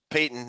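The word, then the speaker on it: Paton: vikings land george payton it's p-a-t-o-n pronounced payton not no relation to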